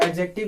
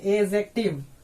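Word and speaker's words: adjective: Students इसको एडजेक्टिव पढ़ते, गलत बोलते हैं। एडजेक्टिव इसको हम लोग नहीं पढ़ते, एड नहीं है ये। यहाँ पे अगर डी के बाद अगर जे आता हो तो क्या हो जाएगा, डी जो है साइलेंट हो जाए आपको। इसको हम लोग पढ़ेंगे एजेक्टिव, इसको हम लोग पढ़ेंगे एजेक्टिव।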